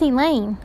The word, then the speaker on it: Elaine: "That's Elaine," I replied. "Rhymes with pain."